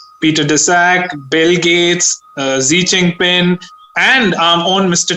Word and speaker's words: Xi: Technically, if you go by the Greek naming system, this Omicron should have been called XI, she. Right. It's not pronounced she. In Greek, it's pronounced C, but technically it would have been Xi Jinping virus, right?